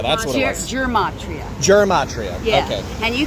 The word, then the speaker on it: Gematria: Gematria. That's what it was. Gematria.